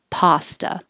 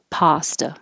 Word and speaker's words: pasta: are backwards and 28 Americans pronounce this with an ah pasta pasta the same r as